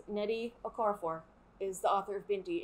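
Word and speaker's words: Nnedi Okorafor: is an extra n um so yeah it's neddy okorafor is the author of binti and you should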